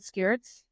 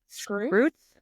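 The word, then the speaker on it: Skrewts: Apparently, we did a whole episode where I kept talking about Blast and Skirts. And apparently that's not how you say it. Blast and it's Scroots?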